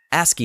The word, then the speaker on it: ASCII: ASCII is pronounced as ASCII.